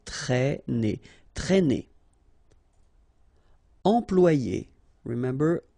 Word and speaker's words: traîner: Accent circumflex here, so you should write it, but then keep in mind that you don't pronounce it, so it doesn't change the pronunciation of this combination of two letters, A and E together, it's E, okay?